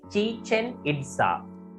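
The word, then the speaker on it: Chichén Itzá: So pronounce කරන්න පුතේ Chichen Itza.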